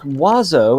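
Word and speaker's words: oiseaux: mocked other than french birds is o i s e a u x in French no letter is pronounced the way it should and there are seven of them it's pronounced wazo and yes I will die mad about them wazo hits every vowel in the French alphabet and only man manages to only be pronounced with two syllables got vowels coming out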